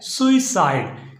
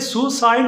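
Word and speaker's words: suicide: का जो लाज है वो है सुई साइड इसे सुसाइड नहीं पढ़ना सुसाइड करना बिल्कुल गलत है नंबर तीन पर नंबर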